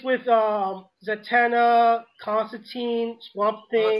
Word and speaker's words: Constantine: Oh, it's with um Zatana, Constantine, Swamp Thing. It's actually pronounced Constantine.